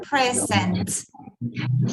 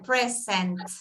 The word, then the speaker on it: present: Notice this, the t está siempre como que no se pronuncia bien al final. Present. Andrea did it very well. Present. Okay, so two plosives that you have to exaggerate at the beginning and at the end of the word.